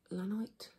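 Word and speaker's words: llanite: And it is lanite because it's only found in one place, and that's Llano County, Texas, USA. So it is a type of rhyolite with inclusions of feldspar and blue quartz.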